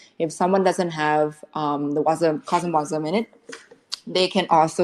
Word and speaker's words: CosmWasm: But can I ask, could you pronounce that again? Cosmwasm? Yeah, CosmWasm.